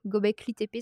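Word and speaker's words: Göbekli Tepe: il a une super publication sur Gobekli TP gobcli TP ça s'écrit g o B E K L i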